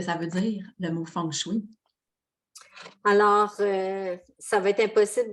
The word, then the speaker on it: feng shui: Mais le mot feng shui comme tel, ça s'écrit F-E-N-G-S-H-U-I, ça se prononce feng shui.